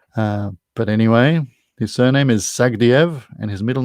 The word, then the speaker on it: Sagdiev: okay his surname is sagdiev s-a-g-d-i-e-v he sort of pronounces it sagadiev but anyway the answer is sag diev and for a bonus